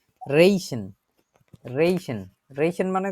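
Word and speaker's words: riechen: আমি দেখছি অস্ট্রিয়াতে গেছিলাম অস্ট্রিয়াতে ওরা হচ্ছে আবার খ এর মত উচ্চারণ করে আর কি এন এখানে রেইশেন শুনতেছেন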